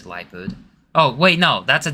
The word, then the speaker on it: Liepard: It's like leopard with an I. I think it's Liepard.